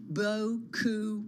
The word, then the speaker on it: beaucoup: Also, Meta's mega beaucoup bucks spend on AI. Did I say it right, Mike? Hey, you said it right. Yeah. Okay. As close as you're going to get if you're not in France.